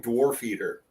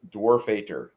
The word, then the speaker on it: Dwarfader: Say the name slower for me, because I keep hearing Dwarf Eater as the Dwarven god. Okay. See, I heard Dwarf Eater. It's pronounced Dwarfater. Darth Vader. Got it.